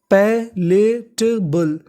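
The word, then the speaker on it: palatable: बी एल ई पर अगर आपको इंग्लिश में कहीं पर बी एल ई लिखा मिले तो आपको बी एल ई को पढ़ना होता है बल तो पूरी मीनिंग हमारी यहां पे क्या बन गई?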